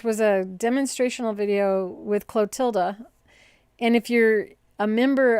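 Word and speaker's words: Clotilde: got the clotilda catalog a lot of people just pronounce it clotid but it's clotilda the end got back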